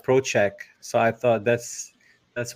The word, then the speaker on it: Prociak: say your last name is it prochek or prak to be honest I don't really know um I I say Pro Che but proch Che who knows I don't know I